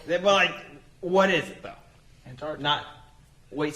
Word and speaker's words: Antarctica: The way some people say it is quickly to where the first T is not there. They just say Antarctica. That's not correct. There's a T. Pronounce it, people.